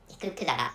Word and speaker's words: Kudara: so the name is the pronunciation of the country is said to be, or has been said to be Kudara, so which is why so we learn the name of the country as Kudara.